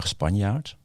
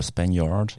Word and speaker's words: Spanjaart: That over there is Spanjaart. Oh, good pronunciation this time. Yes, usually it's Spanjaart.